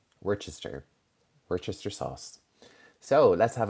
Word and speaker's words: Worcester: Worcester. It looks like it's Worcestershire, but it's Worcester. Worcester.